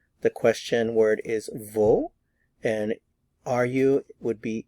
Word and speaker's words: wo: is v v v notice the pronunciation of the w v v let's look